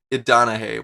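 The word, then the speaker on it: Idonije: I said his name wrong first, didn't I? His name is Israel Idanahe.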